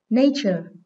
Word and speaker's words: nature: Câu số 5, nature. Đây là danh từ có hai âm tiết, nên trọng âm dưới âm số 1.